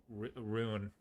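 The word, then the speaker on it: Rhûn: Uh, it's pronounced rune.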